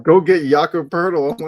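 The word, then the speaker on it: Poeltl: Like every every fan base is like, "Go get Yaka Purle." I'm like, "Uh, wait. Say his name again." Yaka Purle. It's not spelled that way, but that's how I pronounce it.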